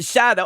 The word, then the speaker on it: Jado: The name's pronounced Shadow.